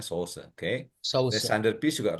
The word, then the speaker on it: Saussure: Bacanya ini orang Prancis, ya katanya Saussure.